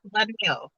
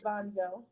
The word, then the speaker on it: Vonville: What's the right way to say Bonnell, right? It's Vonville. Vonville.